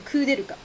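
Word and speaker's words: Koudelka: But in Japanese, you pronounce her name Kuderuka. It's Kuderuka. So, I don't know if I'm saying it right in English.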